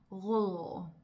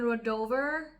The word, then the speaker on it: Rødovre: To give you a little bit of a story, when I first moved to Denmark, I lived in a place called Rødovre.